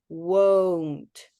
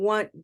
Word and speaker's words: won't: won good that's better I'm hearing mustard I'm hearing want go it sounds like want like I want uh we need that oh so try just that sound o o that's better now oh oh I won't